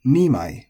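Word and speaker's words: 二枚: It's just it can also be said as sammai, but you're going to say ichimai, so with the accent on the chi, ichimai, and nimai with the accent on the ni.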